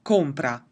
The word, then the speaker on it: compra: If I'm just saying compra, the emphasis is on o, compra.